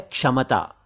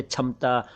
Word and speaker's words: क्षमता: एक शब्द है क्षमता, क्षमता, क्षमता नहीं। कुछ लोग इसे क्षमता, कुछ लोग क्षमता कहते हैं, दोनों ही उच्चारण गलत हैं। आपको कहना चाहिए क्षमता यानी एबिलिटी, कैपेसिटी।